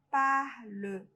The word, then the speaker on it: parles: Tu parles. Ó, o som idêntico pro G e pro tu. Não pronuncia o S.